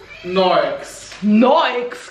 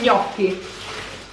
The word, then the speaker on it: gnocchi: Noex, che è sta roba? Come si dice adesso mangiamo gli gnocchi?